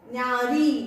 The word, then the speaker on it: न्यारी: न्य, न्यारी, री, देखो न्यारी दीर्घ को ज्यादा वक्त लगता है, न्यारी।